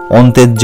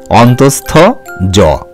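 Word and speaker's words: অন্তঃস্থ য: বর্ণটি হলো অন্তস্থ জ এই বর্ণটিকেও কিন্তু অন্তেজ্জ বা অনেক কিছু ভুল ভাবে আমরা উচ্চারণ করে থাকি তোমরা সঠিক ভাবে উচ্চারণ করবে অন্তস্থ জ মনে থাকবে তো এবারে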